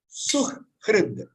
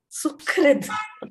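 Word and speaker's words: सुहृद्: We all know very well the pronunciation is Sukhrid. Sukhrid. Okay. Sa mein choti hu, ha with the ra, the Sukhrid.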